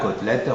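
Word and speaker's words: côtelette: y a l'accent circonflexe mais la prononciation est ouverte hôtel hôpital cotelette rôti on dit pas rôti ou hôel attention il faut le dire d'une manière ouverte enfin il y a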